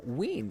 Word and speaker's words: Samhain: Samhain is pronounced Samhain.